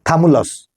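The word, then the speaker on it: Chthamalus: बर्नाकल वो किल से कैथमलस उनका प्रोनाउंस सीए रहता है साइलेंट ऐसे बोला जाता है कि थमुलस थमलस बोलते हैं कथमुलस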